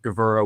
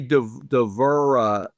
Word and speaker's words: Gevura: We'll connect them with Gevura.